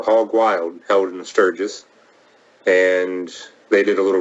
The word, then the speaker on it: Sturgis: just want with it stus no what is it Sturgis Sturgis okay they do at